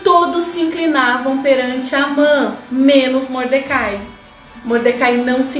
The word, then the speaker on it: Amã: Eu já ouvi com a pronúncia de Ramã, mas eu falo Amã.